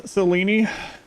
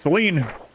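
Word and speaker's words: Selene: surface as we below let pronounce Selen the Americans like I refuse it's Seline oh in we go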